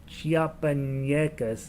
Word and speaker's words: Chiapanecas: not have an enyanya chiapanyecas it was how you pronounce it with an india and